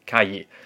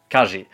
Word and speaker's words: calle: Einmal bei der Aussprache, das LL wird nämlich anders ausgesprochen. Also im Spanischen würde man ja sagen, zum Beispiel zur Straße, Calle. Aber in Argentinien sagt man Calle oder Zwiebel.